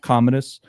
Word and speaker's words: Commodus: King Kam Kamadus. Komodus. C O M M O D U S. Comedus. I don't know. Commodus.